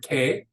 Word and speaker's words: que: That U is a silent U in Spanish. And if you go way back to the very first or second lesson, I told you there really are no silent letters in Spanish. And the U is the exception. The U is silent after a Q.